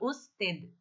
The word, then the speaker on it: usted: O D é mudo, tá? E fica usted, tá?